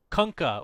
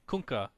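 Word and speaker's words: Kunkka: all right moving on conka or as the real conka would tell me kunka he would actually castrate me for pronouncing incorrectly tidebringer D you say it it's conka as much as I hate to say it it is kunka kunka yeah I I spell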